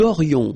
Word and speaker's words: aurions: Then, nous aurions, so this little link between the two, this liaison, nous aurions, final S not pronounced.